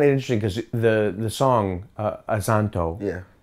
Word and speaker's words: Azonto: interesting because the song, Azonto, yeah. Did I say it right? You did, with an American accent. Yeah, I tried. But we say Azonto.